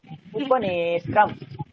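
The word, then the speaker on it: उपनेत्रम्: উপনেত্রাকে দীর্ঘ করুন, নে বলেছিলাম এখানে দীর্ঘ মাত্রা, উপনেত্রম।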